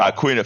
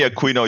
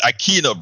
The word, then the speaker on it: Aquino: my brother Aquino I usually get it wrong I get it wrong so you know aquina forgive me Aquino you know oh I I have soy Latino so in Spanish it's Aquino brother but you know